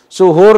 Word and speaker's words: suhur: Oke pemirsa, berarti di sini saya bacanya suhur. Suhur dengan sahur itu beda loh.